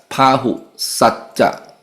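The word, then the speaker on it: bāhusacca: It pronounced as Pahu Satcha. Pahu Satchancha. Artfulness in knowledge. Or you can say this having much learning. Pahu Satcha means extensive learning, especially of Dhamma and Vinaya.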